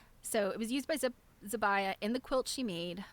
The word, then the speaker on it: Zibiah: It was used by, here's a name we won't forget, Zibiah Smallwood Hewson. Zibiah is spelled Zibiah. I always feel like those ayah names, like Jeremiah, Jebediah, Zibiah, they're like big biblical names, I think.